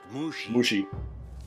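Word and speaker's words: Mushi: meat and sarcasm guy mushy is it it's pronounced mushy you telling me how to do my job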